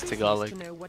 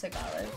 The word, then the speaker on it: Tagalog: It's Tagalog. Oh, it's pronounced Tagalog.